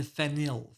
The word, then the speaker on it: phenyl: That's a very different molecule than phenyl.